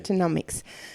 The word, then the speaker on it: Meatonomics: He's a lawyer, he's an animal advocate, and he's author of the books Meatonomics, is that how you're pronouncing it? Right. Meatonomics.